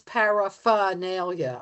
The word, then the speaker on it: paraphernalia: Because that R is the issue. No, everybody thinks it's paraphernalia or paraphernalia. How do you pronounce it? Say the word, Fletcher. Paraphernalia. I guess I do say the R.